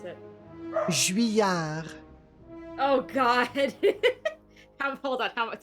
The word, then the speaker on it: Juilliard: The thing is, it's an American person with that name, right? Who gave an endowment to the school. So Juilliard? the French pronunciation is not necessarily correct.